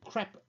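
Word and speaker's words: crêpe: we no longer use i'll use the french pronunciation crap bandages because they are crap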